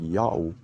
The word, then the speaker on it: Ya'oh: God's name is pronounced Yao according to this inscription and to the other sources that we will discuss later.